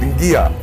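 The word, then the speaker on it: Qia: we got tattooed, and she called it Ngia. In Fijian it's spelled Q-I-A.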